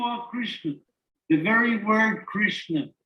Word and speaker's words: Krishna: christian the very word krishna it's interesting it's made of two syllables krish and na krish means the universe